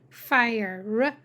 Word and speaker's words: fire: The E is silent to make the I say I. Fire.